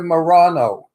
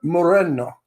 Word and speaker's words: Moreno: Rita Moreno that's it people say Rita Morano or Marina or Moreno it's it's Rita Moreno that's how you say it in Spanish um just a point